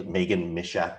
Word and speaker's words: Meghann Misiak: It's Meghann Misiak for those who aren't, did I say it right?